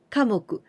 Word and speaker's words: 科目: Here we use the kanji of me, but we pronounce moku. 科目.